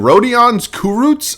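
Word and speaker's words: Rodions Kurucs: a minute and then rodan's kurut I believe is the way it's pronounced he's only 20 kind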